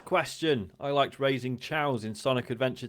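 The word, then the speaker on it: Chao: Spyduck says, question, I liked raising chows in Sonic Adventure 2. What is your favourite game/activity within a game? I pronounce them as Cheos. Well, that's incorrect, Spyduck. It's pronounced chow.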